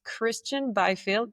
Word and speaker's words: Kristjan Byfield: And I'm very excited to introduce our next guest, Kristjan Byfield. Did I pronounce that well? You did, spot on. Spelt funny, said normally.